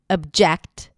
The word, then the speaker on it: object: So the reason why I want to talk about the word objection, because it has a fun little schwa at the beginning, even though it's spelled with an O. Object.